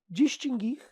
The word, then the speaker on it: distinguir: distinguir extinguir e adquirir não tem o u pronunciado exatamente pessoal é distinguir extinguir e adquirir você